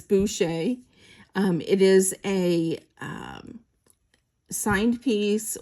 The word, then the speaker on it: Boucher: It is spelled Boucher, okay, but it's Boucher.